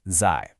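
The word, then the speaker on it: 在: First up, we have the character zai, pronounced zai.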